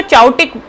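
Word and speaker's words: chaotic: Actually इसको चाउटिक बोलो या काउटिक बोलो, काउटिक इज अ नाइस प्रोनाउंसिएशन।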